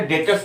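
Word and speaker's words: debtors: अब ये डेटर्स क्या होता है? लिखते तो है डेप्टर्स लेकिन बोलते हैं डेटर्स, बी जो है वो साइलेंट होता है, डेटर्स।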